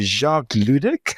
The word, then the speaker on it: Jacques Ludik: Jacques Ludik. How are you doing today? I'm doing fine, and that was the perfect pronunciation of the name.